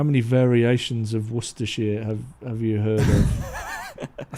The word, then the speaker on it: Worcestershire: Ben and I are, how many variations of Worcestershire have you heard of? I think my mum's English and she calls it Worcester. Yeah, Worcester. I've heard, obviously, like the American pronunciation of it is like Worcestershire.